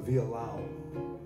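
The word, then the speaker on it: violão: guitar in brazil it's called the villa lao spelled like viola chip oh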